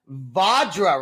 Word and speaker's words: Vajra: change it up we are with the band vadra right that's how you say it that's it